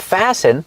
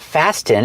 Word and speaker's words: fasten: Remember, with the verb fasten, the T is silent. It's not fasten, it's fasten.